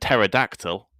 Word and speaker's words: pterodactyl: Like pneumatic and pterodactyl, they both start with the letter P. Who would know?